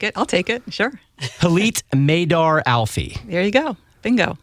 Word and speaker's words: Hillit Meidar: it reading it yes I think it rhymes with Elite because I would put you as Elite is that fair um okay no I'll take it I'll take it sure Elite maidar Alfie there you go